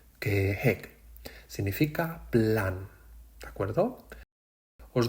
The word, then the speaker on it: 계획: Y la última, número 4, es 계획. La pronunciación es un poco difícil. Repetid, 계획.